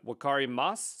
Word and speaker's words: wakarimasu: So we have wakarimasu. So let's try this out. We'll hit record. Wakarimasu. Okay, and it's correct because when you pronounce it, you don't usually say the U, but you keep making